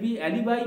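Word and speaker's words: alibi: মানে প্রমাণ করা, অ্যান্ড অ্যালিবাই বা অ্যালিবি, এই অ্যালিবাইও বলা যেতে পারে এটাকে, আচ্ছা উচ্চারণ করা যেতে পারে।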